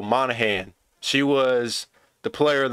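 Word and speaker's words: Monaghan: Because it's M-O-N-A, wait, M-O-N-A-G-H-A-N. So the G sign, so Monahan.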